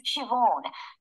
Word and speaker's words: Siobhan: park the person running their store today is Siobhan I'll spell that for you it's an old Irish name